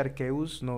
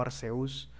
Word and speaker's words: Arceus: Se pronuncia Arceus, no Arceus. Arceus.